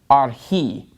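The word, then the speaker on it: ἀρχῇ: Okay, so the accent is on the last syllable in this word archi.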